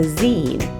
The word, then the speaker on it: zine: lesson in creating a zine which is a mini magazine made from one piece of paper zine is spelled Zi and E and pronounced zine as a magazine and again it is